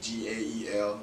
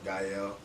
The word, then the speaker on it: Gaël: Most people misspell my name or mispronounce it, but it's okay. But it's just Gael, Gaël.